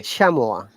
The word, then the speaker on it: chamois: And this one is Okay. chamois. No S, okay?